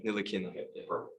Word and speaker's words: Ntilikina: It's my Frank Ntilikina. Ntilikina. Ntilikina. Okay, Yeah. perfect. The T is silent.